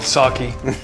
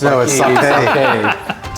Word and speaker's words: sake: variety packed of sake say it right it's called saki not sake so is that Bob's